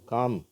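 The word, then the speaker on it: calm: L fill இப்ப பார்த்தீங்கன்னா இந்த வார்த்தைகள்ல எல் உச்சரிப்பே இல்லை காம் அப்படியே காம்ன்றோம் இது பாம்ன்றோம் இதுல உச்சரிக்கப்படுகிறது இந்த வார்த்தையில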